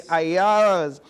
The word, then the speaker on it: Ayalas: I pronounced that correct, right? The Ayalas.